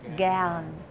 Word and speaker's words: gern: Yeah, gern. Okay, the A is a bit broader. Yeah, not gern. It is gern.